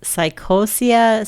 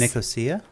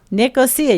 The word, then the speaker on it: Nicosia: how to pronounce this psychosia cypress nicosia nicosia yeah i didn't know how to pronounce it and has